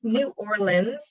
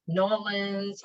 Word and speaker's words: New Orleans: orleans um and it's new orleans not new orleans or new orleans it's new orleans if you want to sound more like a local um you'll be staying